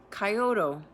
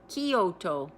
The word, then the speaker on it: Kyoto: Coyoto. Kyoto. There we go.